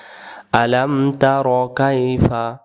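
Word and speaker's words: ألم تر: বলব বিসমিল্লাহির রাহমানির রাহিম শুরু এখানে আমরা বলবো আলাম তার আলাম তার আলামতার আমরা অনেকে বলে থাকি আলাম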